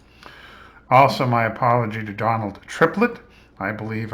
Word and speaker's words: Triplett: Also, my apology to Donald Triplett. I believe I pronounced your name Tripler last time, which is the name of a military base on the West Coast. I believe the name is actually Triplett, and Donald Triplett is